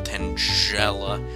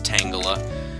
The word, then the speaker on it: Tangela: Tangela. That's not how you say it. It's Tangela, because it's, like, tangled up.